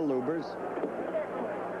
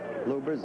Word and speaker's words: Lubbers: Indonesia Mohammad Ali against Rudy LS or lubers it's pronounced both ways luers is probably more technically correct anyway it's the way Rudy wants it said see how